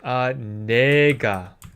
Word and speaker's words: 내가: It actually becomes 내가. The pronunciation of 나 changes to 내, I guess because it's easier to say.